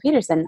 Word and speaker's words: Pedersen: It's Rachel Pedersen.